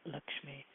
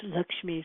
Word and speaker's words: Lakshmi: and her name Lakshmi which is pronounced to rhyme with luck which is I guess not a coincidence uh so it's not Lakshmi it's LMI um her